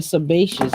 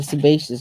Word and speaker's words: sebaceous: the structure of the sebaceous gland sebaceous is s e ba SI e o us glam the sebaceous gland